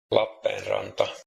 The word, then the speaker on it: Lappeenranta: La Penranta. E and A at the end. That's totally correct. All right. Lappeenranta.